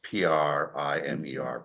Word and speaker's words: primer: want to say that in America we pronounce p r i m e r primer when we're referencing a book and primer is paint I only say that